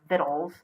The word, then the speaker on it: victuals: find now of course probably victuals or vittles I have been building up the pronunciation again fiddle so you see middle I was right middle fiddle not victual though the thing is given